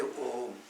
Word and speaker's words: Om: It is one syllable. one syllable, we say Om. In that Om, A, U, Ma, like the three letters are there. But when combined together, put together, it is called Om.